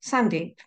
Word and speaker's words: Sandeep: If Sandeep doesn't work for you, imagine it's Sandy, but with a silent P at the end.